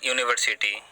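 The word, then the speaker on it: university: जैसे यूनिवर्सिटी, यू से लिखा जाता है, लेकिन उसका साउंड क्या होता है, उसका उच्चारण क्या होता है, या से होता है।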